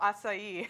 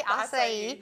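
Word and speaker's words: açaí: Oh, acai. Is it really acai?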